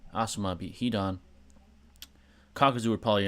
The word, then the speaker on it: Asuma: though what if Asuma beat hidon uh if Azuma beat heedon Asuma let me say it right Asuma beat hidon kakazu would probably intervene um or